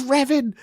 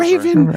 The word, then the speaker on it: Revan: They say it's Revan, not Whatever. Raven.